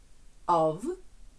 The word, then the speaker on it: of: Якщо у вас в реченні є прийменник of з однією f, він читається як для того, щоб гарніше і легше можна було з'єднати речення. with the he of be. Але якщо воно пишеться з двома F, прийменник зовсім інший, як, наприклад, offline, ось там читається глухе ф. Отже, одна F - це буде ов. Дві F - це буде off.